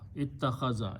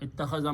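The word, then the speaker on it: اتَّخَذَ: In this particular bab, these 2 letters will be pronounced together as a ta and ta. So this will become ta with a shadda. Ittakhaza. Ittakhaza means to take.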